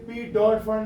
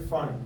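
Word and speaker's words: Pfund: अब ये क्या अभी फंड यार, ये साइलेंट पी है, ये पी डॉट फंड नहीं है, ये फंड है।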